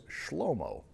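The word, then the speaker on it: שלמה: In English, we say Solomon. In Hebrew, it's Shlomo, which is quite a big change.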